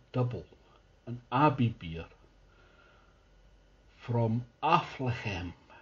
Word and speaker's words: Affligem: an abbey beer from aflahem which i'm assured is how you pronounce it athlete athlete jam or